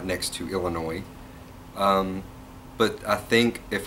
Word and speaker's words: Illinois: on the end like the silent s on Arkansas so anyways I've blah